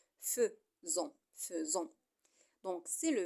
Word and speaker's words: faisons: c'est faisons faisons regarder si ça s'écrit faisons mais ça se lit feu faisant faisant donc c'est